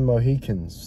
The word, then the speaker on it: Mohicans: Last of the Mohicans, that's how you pronounce it.